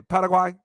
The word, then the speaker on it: Paraguay: Puerto Rico, Brazil, Paraguay, as they say, Paraguay, that's how they say it, and Mexico City, right?